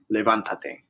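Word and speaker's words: levántate: which would be levanta now we're going to count back two syllables and add an accent so ah is the last syllable and then uh is the second to last syllable so we count back two syllables and we add an accent on that a now we're going to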